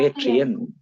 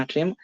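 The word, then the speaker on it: atrium: இந்த தந்திரிக்கு பாருங்க, ஏட்ரியம். ஏட்ரியம் ஆட்ரியம் நீங்க ப்ரொனவுன்ஸ் பண்றதுல எந்த மாதிரி ப்ரொனவுன்ஸ் பண்ணாலும் பிரச்சனை இல்லை, பேரை மட்டும் ஞாபகம் வச்சுக்கோங்க, ஏட்ரியம்.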